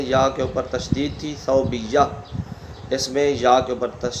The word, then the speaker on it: ثویبہ: لکھا جاتا ہے۔ تو صوبیہ، سا کے اوپر زبر، واو کے اوپر جزم، با کے نیچے زیر، یا کے اوپر تشدید اور زبر آخر میں ہا۔ ایک تو اس صوبیہ